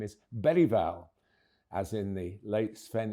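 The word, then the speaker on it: Bergvall: made it crystal clear with the difference of the letter G in Swedish, the proper way to say his second name is Bereval, as in the late Sven Yuran Ericson, Urine written begins with a G.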